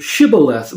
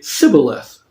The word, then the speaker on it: shibboleth: not an Ephraimite, then they were asked to say the word shibboleth, because the people of Ephraim could not pronounce the SH sound. And so instead of saying shibboleth, they would say sibboleth.